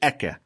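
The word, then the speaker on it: Ekyeh: We say K instead of Hey because we're trained to be very careful to not say the Almighty's name in vain. So we say Eke instead of the way it's spelled.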